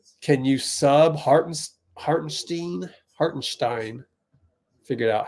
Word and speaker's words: Hartenstein: Miles Turner against can you sub har hartenstein hartenstein figured out how to pronounce that oh oh so the thing I